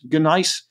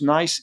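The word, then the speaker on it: gneiss: is nice you know spelled g n e g-n-e-i-s-s g-nice or usually just pronounced nice it's a very very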